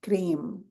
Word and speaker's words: Kreem: It's spelled Kreem, but it sounds like Kdeem, cream.